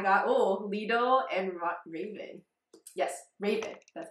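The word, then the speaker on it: Ravn: Yes, Raven.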